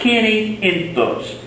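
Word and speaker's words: quinientos: are your odd ones but 500 is Kenny Enos pronounce like someone whose name is Kenny and last name Enos Kenny Enos Kenny Enos is 500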